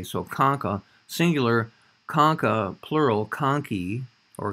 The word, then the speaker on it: concha: concho looks like concha it's usually pronounced like a k so conca singular concha plural conchi